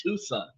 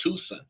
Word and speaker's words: Tucson: I pronounced it Tucson. It's Tuscan or Tuxen, but I I'll pronounce it Tusson. C is silent.